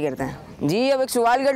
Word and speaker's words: हज: जी हज इसकी सही प्रोनाउंसिएशन है, हज नहीं है बल्कि क्या है? हज।